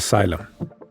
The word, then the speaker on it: xylem: cavitation which is Bubbles that forms inside the syum syum or xylm is spelled x y l e m remember that